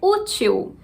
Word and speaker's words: útil: A palavra é útil. Se a gente tem acento no U, essa é a sílaba tônica.